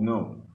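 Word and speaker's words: gnome: word known this do the G is silent it's called known a known is like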